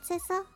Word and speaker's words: Sissel: You know what, Sissel? It rhymes with missile.